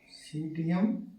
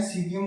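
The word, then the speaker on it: Psidium: है सीडीएम गुवा जावा सीयम गवा जावा ग जावा नहीं होता है गवा जावा होता है ठीक है इसके अंदर प साइलेंट होता है सीम गवा जावा ठीक है बात करते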